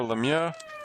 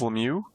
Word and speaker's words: Lemieux: so slapshot asks is it lemieux or lemia i think the official nhl pronunciation is lemieux uh but in in french yeah if you were saying it in french yeah i noticed in